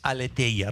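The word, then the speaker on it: ἀλήθεια: Y en el alfabeto griego es aleteya. Repitan conmigo. Aleteya.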